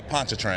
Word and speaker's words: Pontchartrain: Yeah, Pontchartrain.